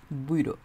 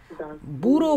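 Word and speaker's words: Büro: বুইর বুরো বলে না কারণ এখানে উমলাউটা আছে এটা খেয়াল করি আমরা উমলাউটা থাকার কারণে তখন হচ্ছে ওটা একটু উচ্চারণটা একটু ভিন্ন রকম হয় এটা হচ্ছে দাস বুইরো দাস বুইরো এবং আমরা এটারে বই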